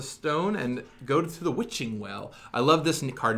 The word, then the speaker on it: Witching Well: It's Wishing Well, not Witching Well. Does no one know how this is pronounced?